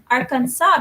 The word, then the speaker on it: Arkansas: lot of trouble yes the S is silent in Arkansas city agrees with me that's why they say Arkansas because it's a silent